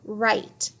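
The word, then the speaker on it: write: W is silent when followed by an R, like in the word right.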